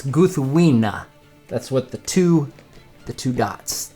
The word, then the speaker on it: Gúthwinë: So in case you're wondering how it's pronounced, it's Gúthwinë.